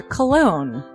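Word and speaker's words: Colon: It is a self-published book by Christopher Cologne. Chris Cologne? Smells good to me. But look at her. That broke that fucking cold little exterior. He's like, hee. But it is spelled C-O-L-O-N. Him punny.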